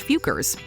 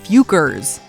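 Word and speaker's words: Focker: But in their defense, the questionable word is pronounced Fukers.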